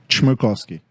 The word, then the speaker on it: Chmerkovskiy: Chmerkovskiy. You sure about that? Yes. Okay. I had practice. Yeah. Now, in studio, we've got who else here from your family? We have the original Chmerkovskiy, the father.